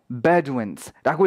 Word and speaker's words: Bedouins: 베도우인스 이렇게 읽어야 될 것 같습니다. 근데 실제로 그 단어의 발음을 보자면요 Bedouins라고 읽힌다는 거 보실 수가 있어요. 사전을 찾아보면 나오거든요.